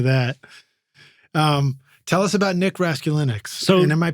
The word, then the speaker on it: Raskulinecz: Tell us about Nick Raskulinecz. And am I pronouncing his name?